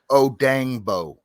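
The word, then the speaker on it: Odeyingbo: How you say it? Dangbo. Oh, Dangbo.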